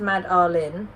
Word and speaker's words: Madeline: The name we loved is pronounced Mad Arlin. Hers is pronounced Ad-Erlin.